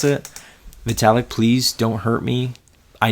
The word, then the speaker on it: Vitalik: metallic Lutheran so that that's how I'm gonna pronounce it Vitalik please don't hurt me I know I mean